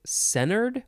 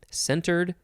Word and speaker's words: centered: sailboats next is centered some people say centered without the t centered centered okay adjective from